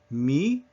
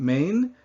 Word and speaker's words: main: And so listen to these pronunciations and then repeat after me. M. Not main, not man, M. That nasal vowel sound just is left there hanging.